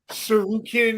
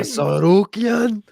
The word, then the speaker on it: Tsarukian: Now Armin Tsarukian even pronounce his last fucking name. Tsarukian.